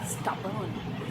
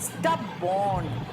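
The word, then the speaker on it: stubborn: अब लिखा हुआ है स्टबॉर्न, देखो मैंने कहा था ओ का प्रोनाउंसिएशन खाली ओ नहीं है, अ भी होता है, तो आप समझ गए ना? स्टबर्न है, स्टबॉर्न नहीं है, स्टबर्न है, राइट?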